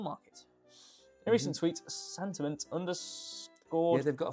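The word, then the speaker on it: Santiment: In a recent tweet, Sentiment underscored. Yeah, they've got a fun name, haven't they? Sentiment. It's supposed to be sentiment, but it's spelled it.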